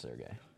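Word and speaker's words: Sergei: I don't need to write How do you say that one guy's name? Sergey? Sergey? Sergey? Yeah, it's just Sergey. Like any Russian name.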